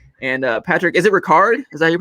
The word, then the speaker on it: Ricard: kyle use check and uh patrick is it ricard is that your pronunciation that's what i thought okay cool patrick ricard as well big fan of the fullbacks over